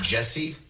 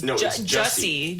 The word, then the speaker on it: Jussie: First off, his name looks like it's spelled like juicy, but it's pronounced Jesse. Yeah. No, it's Jussie. J-U-S-S. Right? That's stupid. Just had to be a little different. Yeah. At least it's not juicy.